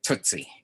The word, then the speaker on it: Tootsie: Yeah, it's typically pronounced Tootsie. Tootsie Roll.